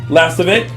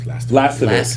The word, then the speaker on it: Lastovic: Lastovic. Yeah. Like, it's kind of like saying last of it.